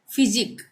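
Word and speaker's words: physique: अब है फिजिक, यहाँ पे भी QUE एक साथ आ रहा है लास्ट में, तो यहाँ पे भी उच्चारण क्या होगा, क का, फिजिक, ठीक है।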